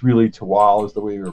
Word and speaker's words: Tehuatl: spelled t-e-h-u-a-t-l so it's naturally most people prize tahawato it's really tawa is the way we pronounce it it is a mesoamerican-inspired expansion to